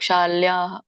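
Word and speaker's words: ಶಲ್ಯಃ: ಮಾತಾಜಿ ಸರಿ ಆಯ್ತು ಒಂದು ನಿಮಗೆ ಶಾಲ್ಯಹ ಅಂತ ಹೇಳಿದ್ರಲ್ಲ ಅಲ್ಲಿ ಹ ಹೇಳಬಾರದು ಅಂದ್ರೆ ಜೋರಾಗಿ ಉಚ್ಚಾರಣೆ ಮಾಡಬಾರದು ಸ್ವಲ್ಪ ಉಚ್ಚಾರಣೆ ಮಾಡಬೇಕು ಶಾಲ್ಯಹ ಶಾಲ್ಯ ಶಾಲ್ಯ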